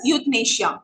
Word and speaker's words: euthanasia: It's pronounced as euthanasia. Okay, euthanasia.